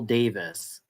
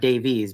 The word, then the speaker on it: Davis: her name wrong yeah Penelope R Randall Davis excuse me not Davies but Davis pel be Randall Davis